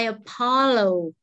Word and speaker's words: apologize: say that all right okay repeat please i apologize okay let's see yes i i apologize apologize